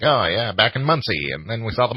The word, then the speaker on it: Muncie: Muncie.